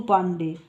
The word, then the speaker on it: পান্ডে: করা যায় তাদের মঙ্গল পান্ডে হয়ে গেল এক বিভীষিকার প্রতীক মঙ্গল বাদ দিয়ে শুধু পান্ডে তাও ইংরেজরা পান্ডে ঠিকমতন উচ্চারণ করতে পারে না হলো পান্ডি এই মতন দুশমন ভারতীয়